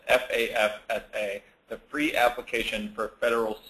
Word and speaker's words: FAFSA: which is the FAFSA, often mispronounced as the FAFSA or something of that nature, but it is the FAFSA, the Free Application for Federal Student Aid.